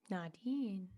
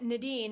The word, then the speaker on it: Nadine: Nadine, not Nadine, right? Oh, And I my love bad. that. No, it's okay. You said it right. It's people in the US say it different than people in Europe.